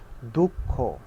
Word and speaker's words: দুঃখ: যেমন দুঃখ, আমি যখন লিখব তখন কিন্তু বিসর্গ খ লিখি, কিন্তু উচ্চারণটা কিরকম হয়? দুঃখ, দুঃখ, এরকম, অর্থাৎ দ্বিত্ব। খটা দুইবার উচ্চারণ এবং জোর দিয়ে উচ্চারণ করা হয়।